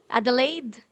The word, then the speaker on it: Adelaide: I pronounce it correctly? Adelaide? Yes, yes, Okay.